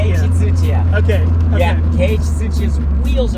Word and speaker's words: 土屋圭一: Can you pronounce the name of the guy? whose wheels they are? Tsuchiya Keiichi. Keiichi Tsuchiya. Keiichi Tsuchiya.